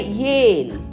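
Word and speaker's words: ale: அடுத்தது பாருங்க ஏல், ஏல், ஏக்கு ஏ சவுண்டு, நெடில் ஏ, எல்லுக்கு இல், ஈ வந்து மேஜிக் ஈ, அதை உச்சரிக்க மாட்டோம். அப்போ ஏவையும் இல்லையும் சேர்த்தா ஏல்.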